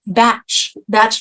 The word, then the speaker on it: Bach: Because, I'm talking about the Bach flowers or Bach flowers. I'm not sure how that's pronounced. It's actually pronounced batch flowers, which doesn't make any sense at all, right?